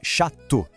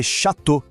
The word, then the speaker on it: château: Então, chateau se pronuncia chateau. Não tem som de O separado. É quase mágico, né? Le Château.